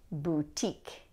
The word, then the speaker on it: boutique: Okay, the next one is boutique. A boutique is a small shop, usually that sells like special items. A boutique. Like the French pronunciation, this is going to have stress on the second syllable, boutique.